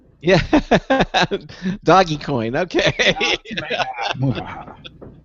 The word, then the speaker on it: Dogecoin: Yeah, Doggy Coin.